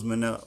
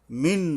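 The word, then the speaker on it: مِنْ: মিং সিজিল, মিন নয় মিং হবে, ইকফার অক্ষর, সিজিল, এই সিন উচ্চারণে সাবধান হতে হবে যেহেতু মাখরাজের অক্ষর।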